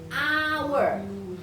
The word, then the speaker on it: hour: Karena ini walaupun dia ada huruf A, tapi bacanya hour. Hnya hilang.